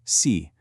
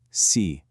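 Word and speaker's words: 四: It's pronounced C. Notice how my voice falls in pitch. C.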